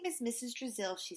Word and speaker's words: Drizzle: Brazil rhymes with Drizzle.